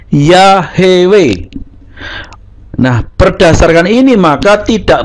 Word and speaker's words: Yahweh: cara pengucapan yahwe tadi Nah kalau supaya dibaca yahwe huruf h-nya ini tidak diikuti vokal maka harus dikasih Sefa tapi ketika dikasih sea maka bacanya bukan yahwe tapi ya hewe Nah berdasarkan ini maka